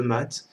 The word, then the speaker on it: mat: l'exception d'une qui est le mât ou le mat. Vous le prononcez comme vous voulez. Moi, j'ai toujours dit le mat parce que échec et mat.